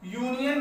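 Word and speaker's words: union: का प्रयोग नहीं करेंगे, लेकिन इसका प्रोनाउंसिएशन हम लोग जब करेंगे तो देख रहे हैं कि इसकी भी स्टार्टिंग किससे हुई, य से, इसलिए इसके पहले हम लोग अ का प्रयोग करेंगे, ठीक है।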